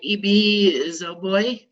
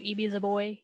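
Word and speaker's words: Ibi Zoboi: club, our YA book club book, Pride by E.B. Zoboi. Is that how you pronounce her name? I think so. E.B. Zoboi.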